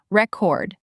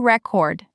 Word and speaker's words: record: That's the noun. I bought a new record. Vinyl is popular again, by the way. Okay. Chord. Like I have a record of all our meetings. Perfect. And the verb is record. Take the stress block and move it to the end.